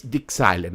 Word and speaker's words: DIgSILENT: as power factory but the origin the origin of this software it's dixieland okay and the excitement or the chilean dependent of your pronunciation is basically the short